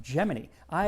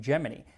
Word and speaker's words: Gemini: on the upcoming gy missions and yes gini gemin I always thought it was Gemini like you know the zodiac sign but according to NASA in 1965 they said nope we pronounce it geminy I kind of think it was because some